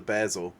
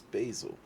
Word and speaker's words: basil: And actually, there's two ways. There's actually a UK pronunciation, which is the basil, and then there's a US pronunciation, which is basil.